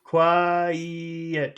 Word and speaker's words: quiet: you want the quiet quiet you have to put that middle sound otherwise I don't understand the word I think it's a different word Qui a say it